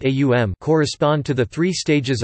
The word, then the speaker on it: Om: The Aitareya Brahmana of Rig Veda, in section 5.32, for example, suggests that the three phonetic components of Om, pronounced A-U-M, correspond to the three